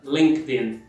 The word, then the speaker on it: LinkedIn: Só junta o link, linka o in no final, fica LinkedIn. Mais uma vez, repeat, LinkedIn. Mais uma vez, sílaba tônica sempre a primeira, LinkedIn.